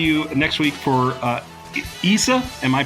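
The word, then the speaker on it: Issa Rae: So, uh we will see you next week for uh Issa. Am I pronouncing it right now, Darren?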